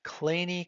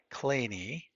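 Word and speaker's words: Kleene: true we can identify something called a clean e closure that's the pronunciation clean e it's denoted a star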